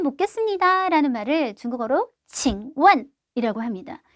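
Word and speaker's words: 请问: 말씀 좀 묻겠습니다 라는 말을 중국어로 칭원이라고 합니다.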